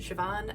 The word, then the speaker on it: Siobhan: name is siobhan you pronounce it siobhan i know it doesn't look like that my office is in